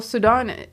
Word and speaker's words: Sudan: Well, Sudan, that's how I pronounce it. So it's just Sudan is just Sudan. Sudan is like, in America. Just American way of saying it.